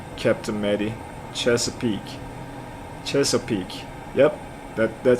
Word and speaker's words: Chesapeake: so i don't have any any knowledge about cheese peak all right the question is coming if you guys are ready i'm gonna start reading it in the next 10 seconds just prepare so it's actually chesapeake chesapeake okay interesting i didn't yeah my pronunciation